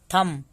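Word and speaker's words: thumb: दूसरा कहता है कि जब भी एम के बाद बी आए तो बी साइलेंट होता है, सिर्फ एम तक हम पढ़ेंगे। कॉम, बॉम, थम, डम।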